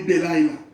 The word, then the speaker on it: Delilah: Elo anomba kumwana kashibeta Delilah. Or Delilah if you want. Kulanda ni Delilah. Pronunciation ni Delilah.